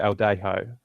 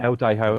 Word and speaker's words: Eldejo: It's Jason am I pronouncing that right? Is it Eldejo? Yeah. Yeah. Eldejo on Twitter, which is ELDEJO.